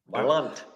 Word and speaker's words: Blount: Blount. Like Blount's oh yeah, you're right. Blount's down in Florida.